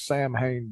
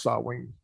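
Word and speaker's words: Samhain: uh well yeah mythology it's written out as Sam Hayne but it's pronounced sawing oh it's it's weird I mean I've heard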